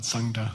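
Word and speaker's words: gtsang: Sangla, sang means clean, like, how do you say, not dirty, clean, okay. Start dictionary entry, sang, G-T-Z-A-N-G.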